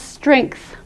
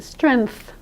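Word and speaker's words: strength: That word we pronounce "strengkth". A lot of people who come to see me pronounce it "strenth", as though it doesn't have any other sound in it -- and I understand that!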